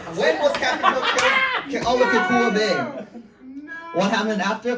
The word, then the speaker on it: Kealakekua: Keakalua.